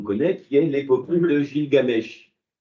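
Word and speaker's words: Gilgamesh: qui est l'épuie de Gill Gamesch. Alors je prononce ça aussi Gil Gamèch.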